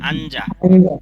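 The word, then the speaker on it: 앉아: কি লিখেছে এখানে আঞ্জা এখানে উচ্চারণ হবে আঞ্জা আর এখানে কি আঞ্জা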